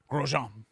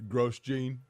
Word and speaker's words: Grosjean: each other pretty quickly how do you say his last name grosjean okay that's better this is a gross gene yeah yeah by the